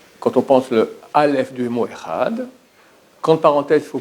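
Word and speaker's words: אחד: Il faut dire le est très court. Echad. Et pas comme les gens qui font Echad, 2. Il n'y a pas 2. C'est Echad en hébreu, Echad. Echad, et pas Echad 2, et pas Echad 2, Echad. Il faut prononcer le D.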